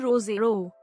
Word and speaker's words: Roseau: roseau framed by lush peaks dominica's capital of roseau pronounced rozero is a colorful jumble